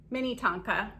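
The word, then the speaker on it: Minnetonka: mini tonka is that how you say it mini tonka yeah um and i've picked these up before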